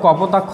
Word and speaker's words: কপোতাক্ষ: যেমন হচ্ছে নদীর পার্থক্য, ধরো কপোতাক্ষ নদ বলা হয়, কপোতাক্ষ, এখানে শেষ বর্ণ যেটা যুক্ত খ, যুক্ত খ উচ্চারণ করতে গেলে যেটা আসতেছে অ, হ্যাঁ, অপ্রত্যয়।